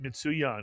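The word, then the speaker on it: מצוין: The first shva is pronounced, mitsuyan.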